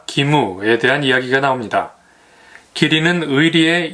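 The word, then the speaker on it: 義務: 일본문화연구소 국화와 카레는 기리와 기무에 대한 이야기가 나옵니다. 기리는 의리의 일본식 발음이고요. 기무는 의무의 일본식 발음입니다.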